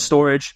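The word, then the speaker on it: Storj: a at jasm we take a look at storage it's spelled stor but it's pronounced storage there's also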